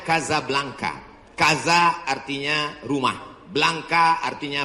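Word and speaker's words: Casablanca: kuliah nama negaranya Maroko ibukotanya tulisannya Caca blancha cara bacanya Kadzab langka Kaza artinya rumah Blanca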